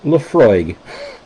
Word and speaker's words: Laphroaig: Leafroy, pronounced Leafroy. La F R O Y G. Okay. So, frog with a Y in the middle for no apparent reason, right?